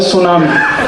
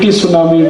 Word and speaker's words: tsunami: अंग्रेजी में एक शब्द है सुनामी, कैसे लिखते हैं? TSUNAMI। बोलते क्यों नहीं टी सुनामी, टी सुनामी, टी सुनामी? कहते जी टी साइलेंट है तो लगाया क्यों, हटा दो उसको।